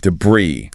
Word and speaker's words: debris: And like many French loan words, that final zuz is silent and the stress is on the second syllable. The correct pronunciation is jam brie. Jabri like debris.